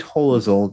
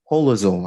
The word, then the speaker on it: Hoelzl: It was Ingrid Holozol that, I'm not sure I'm pronouncing her name correctly, Holozol, I think it's pronounced, who writes about the soft image.